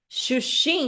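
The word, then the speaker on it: 出身: Esse candis candid aqui, você vai ler como x sh xim. X sh xin, tá? Xuxim.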